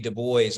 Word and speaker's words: Du Bois: a veil I think W.E.B Du Bois or Dubois depending on how you like to pronounce it he talks about the